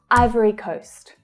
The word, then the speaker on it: Ivory Coast: Ivory Coast, Ivory Coast. Ivory. So again, we have the I as in my vowel sound here. Ivory. So we have a short syllable following. Iver, iver, ivory.